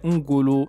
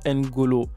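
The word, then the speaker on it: N'Golo: déjà bien la prononciation il faut savoir qu'un golo est un prénom bambara la bonne prononciation et un goulot et non n golo raison pour laquelle vous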